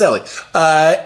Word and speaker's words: Eli: Remember, it's spelled Eli, but pronounced Ellie.